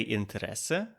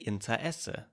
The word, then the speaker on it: Interesse: Some say Interesse, some say Interesse, splitting the word into two, leaving out the R and inserting a glottal stop.